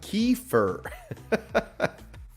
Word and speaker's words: kefir: keer yogurt and Keffer keer pronounced kefir I see keer whatever pronounced Kefir is a drink made